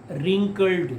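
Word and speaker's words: wrinkled: the little man face रिंकल्ड इसको ध्यान से देखना डब्लू आर आन से इसमें डब्लू साइलेंट है रिंकल झुरिया स पड़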